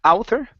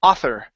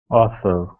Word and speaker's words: author: word author right here instead of a auor okay the Au in this word creates an a sound instead of ow okay it's a author author good nice job uh